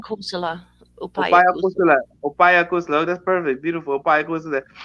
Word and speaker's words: upaya kusala: Opaya Kusula.